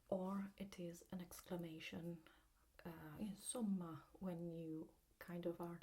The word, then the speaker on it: insomma: And so I'd like you to focus on the way we pronounce this S, because this word should be pronounced insomma with a soft S, while as we go south, usually it becomes a harder S, kind of like a Z, especially when in Rome, they tend to pronounce it insomma, so it becomes really a Z in the pronunciation.